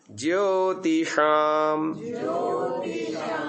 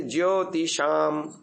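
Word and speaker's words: ज्योतिषाम्: ज्योतिषाम, पहला कैसे उच्चारण करते थे? ज्योतिषाम, ऐसा ही होता था ना, शाम होता था, वो तालव्य होता था। अब थोड़ा जबान को पीछे आकुंचन करके ऊपर फेंकने से बिल्कुल सटीक उच्चारण आ रहा है।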